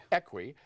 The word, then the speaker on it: Equi: Now, you and Marie Equi, am I pronouncing it correct? Equi.